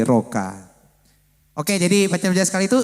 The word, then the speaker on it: RCKA: Jadi tulisannya RC KA RCK teman dibacanya itu broken o jadi rokoka.